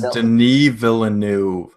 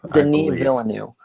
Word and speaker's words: Villeneuve: It's Denis Villeneuve. Denis Villeneuve.